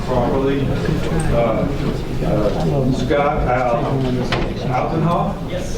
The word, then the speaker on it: Altenhoff: I'll try to pronounce her name properly. Scott Altenhoff? Yes. Altenhoff, and then Scott is a urban forest management analyst.